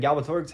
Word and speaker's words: Galbatorix: He needs to defeat Galbatorix eventually, but he has to train because he's weak, and Galbatorix has more than 100 years under his belt Right.